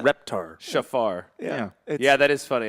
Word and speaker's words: shofar: me with pronunciations uh I've never heard anyone call it a shofar before that's uh it's a shafar so I know it